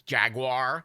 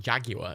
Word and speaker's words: Jaguar: That's how Americans pronounce it. It's Jaguar. It's not Jaguar. It's Jaguar.